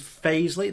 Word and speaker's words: Fazley: of cheap guitars there the brand is phase Li that is their own in-house brand they say pronounced phase Li on their website now I was going